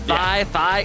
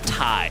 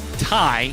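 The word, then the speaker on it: Thy: I'm like, Thigh, it's Ty. Yes, so it is spelled T-H-Y, but pronounced Ty, and he is replacing Do It for TDK in the mid lane.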